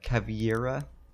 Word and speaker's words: Caveira: Probably always pronouncing her name wrong. What is it? Yeah, Caveira.